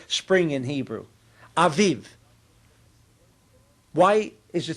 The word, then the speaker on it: Aviv: Aiv.